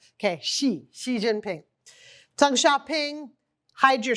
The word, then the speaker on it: Xi: By the way, media always gets the pronunciation of his name wrong. Oftentimes they say it like a Z, like G or J. It's it's just like sh like the female pronoun.